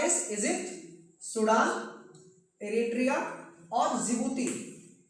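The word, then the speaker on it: Djibouti: साथ में अफ्रीका के चार देश इजिप्ट, सूडान, एरिट्रिया और जिबूती। यहां पे डिसाइलेंट होता है। इसको जिबती बोलते हैं।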